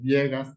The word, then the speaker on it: Viegas: Pido disculpas que pronuncié mal tu apellido, es Viegas, no Veigas, como dije.